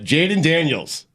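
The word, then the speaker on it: Jayden Daniels: start God bless football it's a Monday uh Jaden Daniels did I say it right yes LSU quarterback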